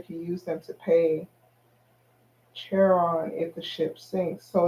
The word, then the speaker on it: Charon: that a sailor can use them to pay cheron if the ship sinks so it's still those are two um Charon let's see else it gives me and it spell like Caren the pronunciation L here is Karen looks like Char Char on caring okay an